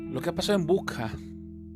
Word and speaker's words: Bucha: que ha pasado en buja Estuve escuchando que también se dice bucha pero la pronunciación fonética es bu ha sido algo tremendo